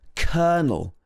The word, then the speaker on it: colonel: Number five is kernel. This is pronounced completely differently to how it's written.